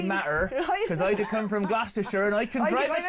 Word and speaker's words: Gloucester: don't know they don't you can always tell the tourist in glosser because they'll be like glester and then Siler and